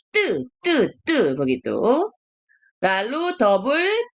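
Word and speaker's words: ㄸ: bacanya 뜨 begitu.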